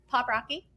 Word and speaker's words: Poprocky: want to make sure we're saying it right pop Rocky so we then had a discussion I think